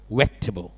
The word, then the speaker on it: vegetable: ที่ แปล ว่า ผัก คน ไทย จะ อ่าน ว่า v Table ถูก ไ ซึ่ง จ นะ ฝรั่ง จะ พูด คำ นี้ ว่า Vegetable Vegetable Vegetable ไอ คำ ว่า เนี่ย แทบ ไม่ ออก เสียง เลย มัน จะ พูด แค่ wable wable แค่ นี้ เอง แปลก มาก แล้ว สุด